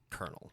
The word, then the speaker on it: colonel: It's COLONEL, right? It's Yeah. pronounced Colonel. Colonel, fuck.